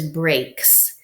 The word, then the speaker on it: brake: So it must be a silent E syllable to give us the long A sound.